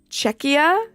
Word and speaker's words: Czechia: It's pronounced Czechia. I feel like the C and the Z next to each other is what throws me.